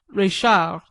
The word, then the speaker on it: Reichardt: at the establishment of Madame reichardt pronounced a la francaise Rachel where I felt that